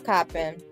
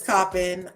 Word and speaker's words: Coppin: e d from how do you print I pronounce it shopping coffee it's coppin okay so they said it's coppin but I also say it's Wilshire when I